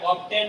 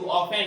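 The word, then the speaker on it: often: Pass through as অফেন, এটা অফটেন নয় কিন্তু অফেন, টি উচ্চারণ হবে না, silent word, as অফেন অ্যাজ আই ক্যান, কিন্তু আমি যতবার পেরেছি ততবার দেহলির উপর দিয়েই গেছি।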